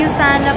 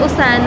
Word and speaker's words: USANA: So thank you ulit sis Nica doun sa binigay mong ano pala 'yun Yusana pala 'yun. Hindi siya usana. Yana ako. Yusana pala yung pag-pronounce niya.